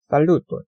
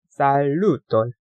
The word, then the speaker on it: Saluton: 칠판이 작아가지고 에스페란토 같은 경우에는 끝에서 항상 끝에서 두 번째 모음 중에 끝에서 두 번째 오는 모음에 모음을 강하게 읽습니다. 항상 그래서 살루톤 이거 한 단어입니다.